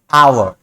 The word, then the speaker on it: hour: कि consonant letter है, लेकिन अगर इसके प्रोनाउंसिएशन पे ध्यान दीजिए तो क्या है, he worked here for आवर। आवर ये जो है आ साउंड से शुरू हो रहा है, जो कि वॉवेल है, और इसलिए ये